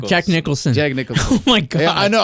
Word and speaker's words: Jack Nicholson: that uh what's his name uh Jackson nickel Jack Nicholas oh yeah oh my God what's his name Jack Nicholson oh my God I know I said it